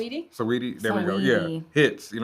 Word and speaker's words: Saweetie: I never know how to pronounce it. Saweetie?